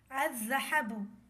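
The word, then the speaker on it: الذهب: پر number 4 صاد، الذھب۔ یہاں پر دیکھا جا سکتا ہے کہ لام لکھا ہے مگر پڑھنے میں نہیں آ رہا۔ اس کی ہجے ہوگی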